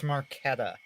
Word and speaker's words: Marchetta: there in the background saying it's marquetta whatever check why are you complaining about me pronouncing your last name like cheddar the king of cheese I don't care he does okay how are you doing today mrs.